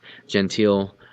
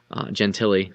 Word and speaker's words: Gentili: Gentile Gentili. Sorry, it was a little bit point of emphasis tonight is that the pronunciation of Kyle Gentili's name.